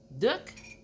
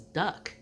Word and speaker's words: Duc: My mom, her name was Duck. It sounds weird. It's Duck like a book, but with a D.